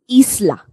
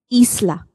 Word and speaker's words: isla: Isla. That's why I said double E. Isla. I is pronounced as double E.